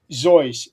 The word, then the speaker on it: Seuss: That's Zoe. That's the correct pronunciation of his name.